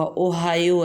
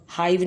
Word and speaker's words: Ohio: اگست 1871 کو ریاست اوہایو میں پیدا ہوا۔ اوہایو ہے، ہائیو نہیں اس کو پڑھنا، اوہایو۔ اس کے سپیلنگ ہوتے ہیں OHIO، اوہایو میں پیدا ہوا۔